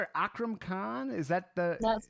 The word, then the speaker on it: Akram Khan: Am I pronouncing it Akram Khan?